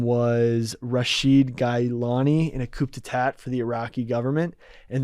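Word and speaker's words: coup d'état: The Nazis and Italians had sponsored this one prince whose name was Rashid Gailani in a coup d'etat for the Iraqi government.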